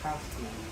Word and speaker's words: casque: Beak is called casque, pronounced casque. Oh, casque, not casque.